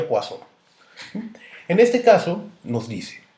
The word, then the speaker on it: Poisson: la distribución de pozo aunque se escribe poison es un nombre en francés entonces por eso se pronuncia guasón en este caso nos